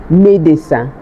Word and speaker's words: médecin: Médecin. But it is pronounced médecin.